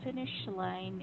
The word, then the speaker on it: finish line: for this one, by the way, finish line is a compound noun. Mm-hmm. So you're gonna put more stress on the first word.